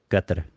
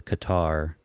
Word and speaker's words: Qatar: Um, kind of like Qatar. It's, everyone says Qatar, but the pronunciation is supposed to be Qatar.